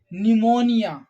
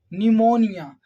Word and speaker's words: pneumonia: we can see that P is in the beginning and after P there is f yeah but we are not pronouncing here the letter P we are keeping them silent okay so this is